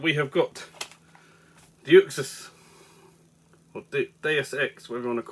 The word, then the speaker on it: Deus Ex: Deus Ex.